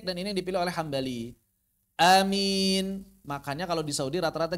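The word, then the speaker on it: آمين: Yang pertama hamzahnya panjang. Amin tanpa tasydid. Yang kedua sama seperti yang pertama bedanya di hamzahnya doang pendek. Amin.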